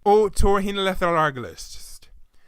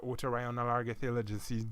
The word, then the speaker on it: otorhinolaryngologist: Well, aside from the silent H and the irregular use of the consonant Y, the word has 21 letters and 8, yes, count them, 8 syllables.